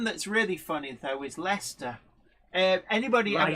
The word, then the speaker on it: Leicester: of right um Sarah Davis says how Americans pronounce Birmingham is hilarious as Birmingham hey the one that's really funny though is Lester uh anybody I says that yeah Aussies as